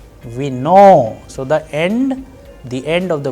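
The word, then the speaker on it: вино: Alright, and in case of vino, it is again on o and it is being pronounced as vino.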